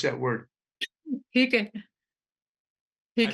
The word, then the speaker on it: hygge: How do you pronounce that word? Hygge, I say hygge, that again.